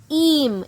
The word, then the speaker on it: ihm: Im. M for mango.